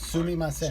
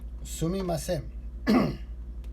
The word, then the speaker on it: すみません: The Japanese speaker is going to For repeat excuse this me, word it's part by part, sumimasen.